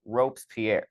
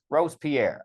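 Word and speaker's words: Robespierre: that V uh has a problem where he mispronounces uh ropes Pierre ropes Pierre Rose Pier I'm saying it wrong too Rose Pierre I do know who Rose Pierre is I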